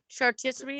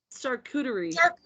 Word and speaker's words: charcuterie: rude and correct her literally chartistry is that how you say it charcuterie yeah well that's [ __